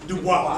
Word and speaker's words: Du Bois: Du Bois.